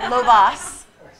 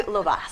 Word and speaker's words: Lovaas: And it's not Lovaas. Yeah. I mean, it's not, the syllable is important where you put it. Yeah. So it's If you- Lovaas, some not people Lovaas.